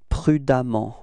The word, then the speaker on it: prudemment: So you will get for the adverb, it's prudemment, okay? And the strange thing is that you will write E-M-M-E-N-T for the adverb, but then you pronounce as if there was a A, okay? It's prudemment, okay?